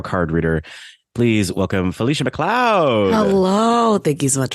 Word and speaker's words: McLeod: name so long I it's McLoud yeah because it doesn't look like how it's spelled so I get that right